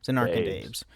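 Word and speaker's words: Zanarkand Abes: Zen AES.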